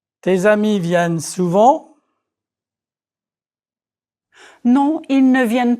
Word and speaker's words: vienne: The third person plural of venir is vienne. Note the double N. This double N denasalizes the vowel. It is the vowel E that you practiced in lecture 5.